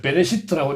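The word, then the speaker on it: בְּרֵאשִׁית: 히브리어 읽는 글이고, 그러니까 히브리어는 한글로 지금 옆배가 베레시트라고 읽는데, 베레시트라고 읽고, 이제 베레시트는 이렇게 이제 베레시트예요.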